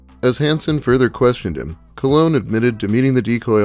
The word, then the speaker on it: Colon: So ironic that his last name is pronounced Cologne, yet he always looks like he hasn't showered in 3 weeks.